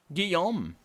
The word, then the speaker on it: Guillaume: Guillaume. Nice. Very French pronunciation of that double L.